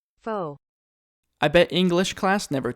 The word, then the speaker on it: faux: this video is the faux wood blind and yes that is how you say it I even Googled it faux I bet English class